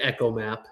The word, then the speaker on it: ECHOMAP: We always say ECHOMAP.